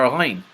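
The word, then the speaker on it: غ: Neither does the letter ghain. The ghain is a letter that is also pronounced from the throat.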